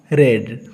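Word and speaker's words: read: गिय जिन मने रखंतु आर इ ए डी रीड raw first form को हमें रीड बोली उच्चारण करबा किंतु जेठी भी second form किबा third form use हुए सेठी रीड को रेड बोली उच्चारण करबा एठी बहुत लोग भूल करती पास्ट पार्टिसिपल फॉर्म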